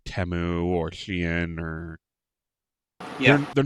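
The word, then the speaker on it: Shein: know, ripped off by something like Teu or Shien or they're not made by a company who's pedaling them. It's pronounced shine.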